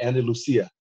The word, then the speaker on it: Andalusia: Andalusia. Andalusia. But if you're from Spain, it's called Andalusia because it's like it's a type of horse.